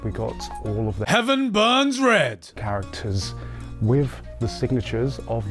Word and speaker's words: Heaven Burns Red: in this recording because the Game's name is not Heavens burn red it is heaven Burns Red so we're just going to have to fudge all the times I said it wrong characters which I